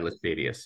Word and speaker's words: Laestadius: Am I pronouncing that right? Lars Levi Laestadius, yeah.